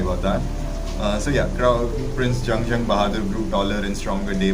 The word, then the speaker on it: Jung Bahadur: i mean i'm sorry i'm calling it yangyang because my initial instinct is to pronounce it young as khali young the philosopher but it's actually sorry about that so yeah prince jung jung bahadur grew taller and stronger